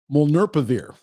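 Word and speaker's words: molnupiravir: fda emergency eu authorization as soon as possible molner pivir that's how you pronounce it is not a vaccine it is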